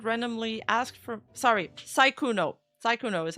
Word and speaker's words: Sykkuno: Sykkuno is how you pronounce it.